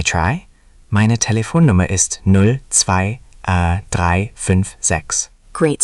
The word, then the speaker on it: zwei: Another contrast, zwei, two, versus drei, three. I'll say one, drei, three. Zwei, two. Great. Always listen for that ts at the start of zwei. That ts is the giveaway.